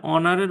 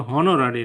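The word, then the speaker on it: honorary: His profession, অনার এখানে কিন্তু হনার না, তাহলে অনারের উচ্চারণটা যেহেতু হচ্ছে, সুতরাং আপনার এটা হবে কে, অনারের উচ্চারণের ক্ষেত্রে এইচটা বাদ যাচ্ছে, তাহলে আর্টিকেল এন হবে। আবার যেমন এখানে দেখেন হি ওয়াজ অনোরারি প্রফেসর, এটা কিন্তু হনোরারি না উচ্চারণ, তাহলে এর আগে আর্টিকেল এন হবে,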